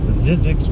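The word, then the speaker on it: Zzyzx: its name there really not anything out there zizzi Road it's spelled I believe z z as in zebra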